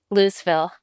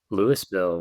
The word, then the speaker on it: Louisville: So I want to know do people in Louisville, Colorado pronounce it Louisville or Louisville? Nope. Lewisville. Lewisville.